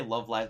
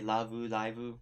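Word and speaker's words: ラブライブ: not going to lie or lauu lauu as they as the Japanese say umh which made more sense to them when you said it that way yeah actually if you just say love live they'll be like what the if you say Lau liveu because that's how they're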